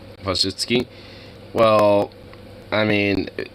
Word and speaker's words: Wojcicki: She's pronounced Wojcicki.